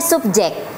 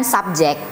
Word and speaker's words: subjek: Bacanya subjek bukan subjek. Subjek kan bahasa Inggris, Teman-teman. Iya. Cuma kadang kita masih sering salah kan tulisnya. Kita tulis kita bacanya subjek padahal harusnya itu subjek. Su sub bukan sub gitu.